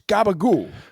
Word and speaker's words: gabagool: It's gabagool.